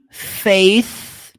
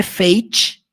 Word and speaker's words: faith: My faith. Preste atenção aqui no som do TH. Faith. Faith. Faith. Não é fate, tá? Você vai falar faith.